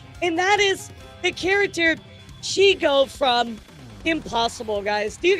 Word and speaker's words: Shego: Sou claims victory and she go pronounce a pronunciation feud with Amaly.